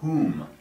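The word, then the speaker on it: Hum: Om, a h, and whom hu m.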